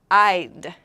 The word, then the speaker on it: I'd: First, right here, I'd. So I'm going to circle this right here. Maybe some of you know. Make sure that this I'd, in this I'd, you pronounce the D very clearly.